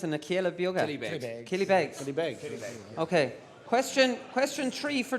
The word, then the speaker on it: Killybegs: own band Gallaher play for how do you pronounce Anna Kiel ability Bey Killybegs okay question question tree for team to walk